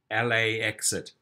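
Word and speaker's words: LAXit: lax calls the pickup area lax it pronounced la exit can we walk to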